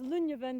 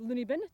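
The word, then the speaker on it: Luinne Bheinn: some of the other monroes of noidart that's lunya then behind me not pronounced looney been tempting as it may be to do so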